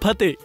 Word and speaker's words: Fateh: It is Fateh. Fas.. It is spelled as F-A-T-E-H.